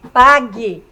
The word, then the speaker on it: pague: Ó, quando eu falo quero, pague, perceberam que daqui eu dou um salto e vou direto aqui? Pague. Quero, ó. O U nós não pronunciamos, certo? Então eu tenho um dígrafo.